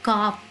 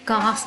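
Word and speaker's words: calf: पीछे होता है इसको काफ बोलते हैं, काफ। L साइलेंट है, आप इसको काफ बोलेंगे।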